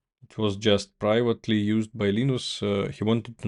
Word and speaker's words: Linux: Hello, this is Linu Dvals and I pronounce Linux as Linux.